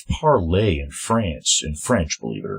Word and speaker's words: Parler: I think it's called, it's spelled Parleur, but I think it means it's parlay in French, believe it or not. Parler. Most Americans will say Parlor.